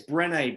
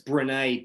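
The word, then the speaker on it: Brené: renee she she's wonderful it's brene b-r-e-n-e with like a accent on the e and brown okay and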